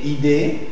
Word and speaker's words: idée: Voilà, c'est très bien, mais il faut marquer un peu plus la prononciation « et ». Alors, idée. Alors, c'est comme si tu fais un faux sourire. Et, d'accord? Alors, les lèvres doivent être très tendues en arrière.